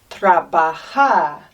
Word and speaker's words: trabajar: The next one is trabajar. Look how we pronounce the J.